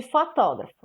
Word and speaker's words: fotógrafo: vocês de fotógrafo né veja só a última sílaba pô a penúltima será a antepenúltima que vem antes da penúltima pó expo loja descobrimos que só é a falar é a sílaba tônica dessa palavra essa sílaba tônica ela está ela é antepenúltima posição dela está aqui ó ela é antes da penúltima então ela é uma palavra proparoxítona a sílaba tônica é